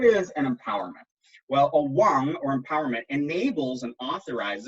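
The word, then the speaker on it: དབང: rate of empowerment now the word for empowerment i don't have this in the slide is wang that's spelled d-b-a-n-g because it's tibetan so what is an empowerment well a wong or empowerment enables and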